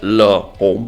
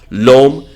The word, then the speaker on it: L'Homme: I used to pronounce it Le Homme, but then I'm catching up on my French from all these great reviewers right here in the fragrance community on YouTube. L'Homme by YSL.